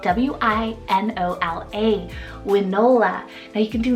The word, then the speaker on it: Winola: Then my second one here, super cute, and I know a lot of you guys will love it, is Winola, spelled W-I-N-O-L-A, Winola.